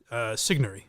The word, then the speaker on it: Sigourney: I mispronounced her name, Mike. Sigourney.